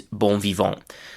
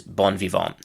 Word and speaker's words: bon vivant: Another great expression in the category of food, drink and celebration is bonvon. So that's the French pronunciation. English pronunciation is bonvon.